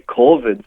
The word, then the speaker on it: corvid: um and yeah I told that um apparently corvids so like magpies and crows and all that are much smarter sorry what did you call that group of birds a corid corid yeah I've never heard that spell it